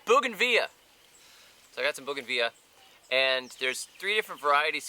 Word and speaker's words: bougainvillea: on edibles but I bought my wife's in Bougainville a-- Bougainville yeah it's impossible to spell it's impossible to say don't even try it's bougainvillea so I got some booking via and there's three different varieties here which we